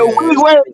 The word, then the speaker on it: Nwigwe: we got a chance to listen to Toby Nuwaji. I don't know how you pronounce his last name. Nuwaje. Pronounces it Nwigwe or something like that. Nuwaje, that's it.